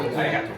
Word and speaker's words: ありがとう: Is it origato? ありがとう。 Arigato.